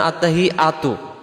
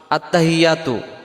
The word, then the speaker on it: আত্তাহিয়াতু: করে ফেলি আমরাদের উচ্চারণে আত্তাহিয়াতু আত্তাহিয়াতু আত্তাহিয়াতু হা জের হি ইয়ার পরে তাসজিদ আসছে এই তাসজিদটা সহ আদায় করার জন্য বলতে হবে আত্তাহি এমন আওয়াজ হবে